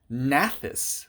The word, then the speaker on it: gnathus: Gnathus, the G is silent, means jaw, which in this case basically means mouth.